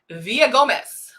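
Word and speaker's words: Villagomez: Oh, I don't pronounce the double L. Villa Gomez.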